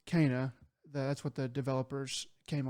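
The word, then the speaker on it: Kena: So there's a game that came out, um, which we did not pronounce it back when it came out, uh, but it's pronounced Kaa.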